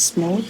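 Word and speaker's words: SMOTE: This can be mitigated by generating synthetic data using techniques like SMOT, or it should pronounce smooth, or collecting additional real-world data to ensure balanced representation.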